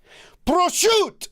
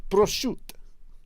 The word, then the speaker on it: prosciutto: Prosciutto. Prosciutto.